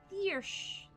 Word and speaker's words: Thyrus: Thyrus is pronounced as Thiersch.